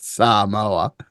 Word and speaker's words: Samoa: the American Samoa that's how they say it Samoa um but I think it g really gives